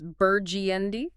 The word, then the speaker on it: Burgundy Street: It's Burgiendi.